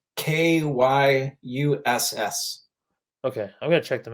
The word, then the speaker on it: Kyuss: Caius, it's Kyuss.